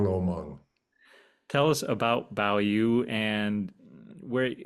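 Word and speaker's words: 宝玉: It's So Bao Yu. Bao Yu, Hong Lo Meng. tell us about Bao Yu and where, like, how you developed his character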